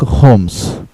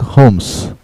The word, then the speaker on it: Holmes: With a character of Sherlock Holmes. This story is narrated, N-A-R-R-A-T-E-D, narrated. This story is narrated by Dr. Watson. Dr. Watson. He was a friend of Holmes. இந்த ஹோம்ஸில் எல்லாம் உச்சரிக்க கூடாது, ஆனால் எழுதணும்.